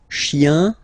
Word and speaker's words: chiens: Okay, remember, chien, singular form, chien, same pronunciation, but you put this s. Okay, final s not pronounced.